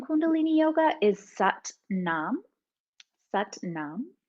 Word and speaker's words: Sat Nam: And uh the most common mantra in kundalini yoga is sat nam sut nam. And it rhymes with coincidentally but mom. So it's sut nam but mom.